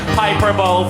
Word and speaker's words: hyperbole: I think, David, I think you'll find that hyperbola does not rhyme with Super Bowl.